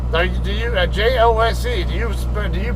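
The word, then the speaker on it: José: If you see a J and it's a Spanish word, pronounce it like an H.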